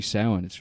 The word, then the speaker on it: Samhain: the children or every sound it's called sound or sam hayne as paul road says in the film it's samhain and the pronunciation every sound the children